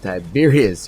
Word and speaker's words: Tiberius: No, I mean Tiberius. Yeah, it's pronounced Tiberius.